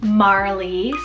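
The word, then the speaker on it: Marlee: that sun nature incorporation for both of them Marley small m-a-r-l-e-e Marley this one's really sweet it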